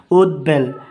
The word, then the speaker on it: উদ্বেল: শব্দের মধ্যে ও শেষে শব্দের মধ্যে ও শেষে দৈব ফলা থাকলে ব এর উচ্চারণ অপরিবর্ত থাকে যেমন উদ্বেল এখানে বড় উচ্চা হয়েছে ভবিষ্যৎ বাণী যেমন এখানে